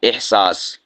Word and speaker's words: احساس: احساس، ہا کو ساکن پڑھنا ہے اور ہا کو واضح لفظ اپنے لہجے میں ادا کرنا ہے، احساس۔ یا اسی طور